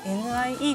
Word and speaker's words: NIE: 今回の課題は nia を体験しようそのまま NIE と読みますニュースペーパーにエデュケーション